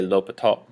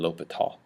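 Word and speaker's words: L'Hôpital: a name um and in america anyway we typically say l'hopital um i don't speak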